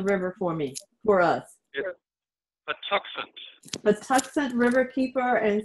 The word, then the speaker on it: Patuxent: fred huffman uh and fred will you please pronounce the name of the river for me for us patuxent the tuscan river keeper and ceo and you